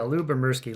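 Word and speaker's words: Lyubomirsky: used by a wide variety of scholarsky yeah Lou bemersky let's let's give it let's let's get that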